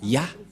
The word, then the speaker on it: Yah: Donc, pour les Juifs, le Dieu juif s'appelle Ya, Yod et He. C'est bien clair. Donc, il n'y a plus rien à contredire. La parole du grand-père Moshe est très claire. Ça se prononce Ya.